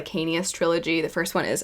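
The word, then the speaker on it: Licanius: series would be the I believe it's pronounced lanus Trilogy the first one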